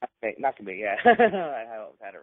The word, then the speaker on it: Makabe: Trying to pronounce his name right. Makabe. Makabe, yeah.